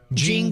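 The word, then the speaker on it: JNCO: Jeno.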